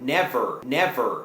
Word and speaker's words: never: ว่า เนื้อ สวรรค์ คุณ อาจ จะ สังเกต ว่า never never ไม่ ได้ ออก เสียง ว่า never นะ